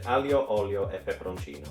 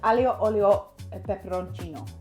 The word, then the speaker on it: Aglio Olio e Peperoncino: Can you pronounce this properly for me, please? Aglio Olio e Peperoncino. Aglio Olio e Peperoncino.